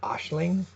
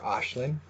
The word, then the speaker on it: Aisling: And you can pronounce this AI, as you know, can be pronounced as ah or ah, and even I. But we can say this as Ashling, or Ashlyn, or Ashlyn, or Ashling, or I guess Aisling, Aishlin.